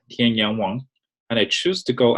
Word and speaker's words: Tianyang Wang: as you can see my name is originally pronounced Tian Yong Wong and I choose to